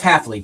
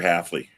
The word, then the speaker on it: Hafley: We got Chuck the which I can't pronounce. Leftley Miami. Miamiy's new coach. Oh. Oh. Oh. Jeff Jeff Halfley.